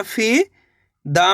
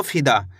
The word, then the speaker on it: फिदा: आपको करने के तेजी के साथ इसका उच्चारण निकालना है फिदा।